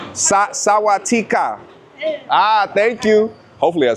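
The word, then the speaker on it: สวัสดีค่ะ: Sawatika.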